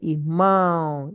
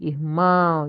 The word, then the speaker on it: irmão: Um, when a word, when a word does not have accent like this, when it has accent, is that accented syllable that you will stress. That's why we say irmão, irmão.